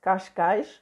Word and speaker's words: Cascais: time to catch guys it's pronounced like this in Portuguese gosh gosh and I came here